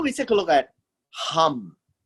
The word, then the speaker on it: Ham: take a look at hum that's how it's pronounced hum not ham ham is what you eat in the morning thank in the story